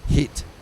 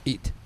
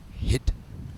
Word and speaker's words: heat: professional uh announcing and remember it's heat not itat heat thank you pres Philip is you know has is a pentalingual and speaks all languages very well but sometimes the the French pronunciation of the AG catches up with him so In the Heat of the Moment he call it itat of the moment so just remember it's hit and yeah and you